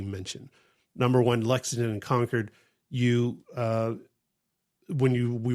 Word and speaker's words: Concord: And we ended up staying a night over in conquered. Yeah. It it looks like Concord, but that is not how you say it. Do not say Concord.